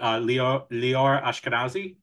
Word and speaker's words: Lior Ashkenazi: husband, Saul, played by correct me if I'm pronouncing this wrong, but Lior Ashkenazi.